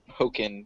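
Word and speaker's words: Pokkén Tournament: fairly expanded roster it's it's pronounced pokken tournament talking token anyways so most people who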